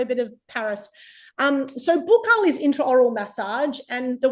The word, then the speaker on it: buccal: So buccal is how I pronounce it because I was trained in Paris. So in Paris, all we said was buccal the whole time. Australians find that, I think, frustrating and irritating when I say it like that because everyone else says buckle.